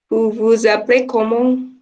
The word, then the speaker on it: vous vous appelez comment: Yang harus diingat S sama A-nya jadi Z.